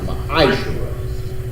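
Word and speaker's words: מעשר: It means 10th in the Hebrew and is pronounced ma'ashera.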